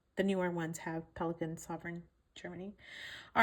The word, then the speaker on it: Souverän: It's called a Pelikan Sovereign, and sovereign as in supreme ruler or supreme like king. So, you know, like Queen Elizabeth was a sovereign.